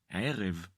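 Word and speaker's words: ערב: In Hebrew we say ֫érev. If you find it difficult to pronounce the consonant Ayin, you can say it like you’d pronounce the consonant Aleph.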